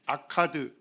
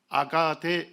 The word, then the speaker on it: 아카드: 보니까 뭡니까 카드입니다 예 여기 아카드 또는 아가 라고 발음하기도 합니다 자 거기에서 시작되었으며 그가